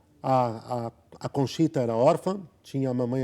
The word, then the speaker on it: Conchita: A mamãe de Conchita, da Conchita, deixa eu só dizer uma coisa, 2 formas aqui de pronunciar. A mais comum é Conchita. Conchita, em espanhol, mas é interessante.